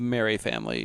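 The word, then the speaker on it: Merrye: Um, the Sawyer family and Texas Chainsaw Massacre and is it the Mary family? Is that how Yeah, the Yeah, it's spelled odd, but it's the Mary family.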